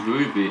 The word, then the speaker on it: Roby: Oh, it's pronounced as Roby. Oh, well, Roby, okay. I was right the first time then.